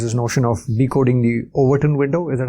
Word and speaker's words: Overton window: when I is this notion of decoding the Overton window. Is that how you pronounce it?